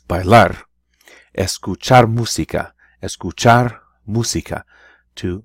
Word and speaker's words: bailar: to dance by laugh they pronounce it with a stress at the end of the word where the AR is bailar escuchar música escuchar música